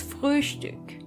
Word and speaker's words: Frühstück: And try to pronounce the O-Umlaut. Das Frühstück.